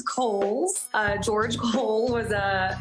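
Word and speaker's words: Cowles: much it is pronounced kohl's uh george cole was a an early land owner developer out in the east county area so holes mountain like the department store and backed by popular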